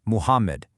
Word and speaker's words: Muhammad: Think about the name of the prophet, Muhammad. Notice that ha right in the middle? Yeah, that is not an English H. It's actually pronounced from the middle throat with a dry, breathy push.